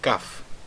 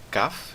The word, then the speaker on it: Kaf: Bom, a 11ª letra do alfabeto hebraico é a letra Kaf. Mais uma vez, a pronúncia dessa letra é Kaf e não Kaf, tá bom?